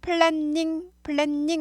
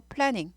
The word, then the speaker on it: planning: 하지만 발음은 플래닝 아니고 플래닝. n 하나 발음이 납니다.